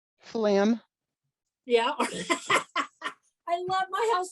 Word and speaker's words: phloem: so phloem okay p-h-o-l-e-m phloem there you go phloem it sounds like what flam yeah i love my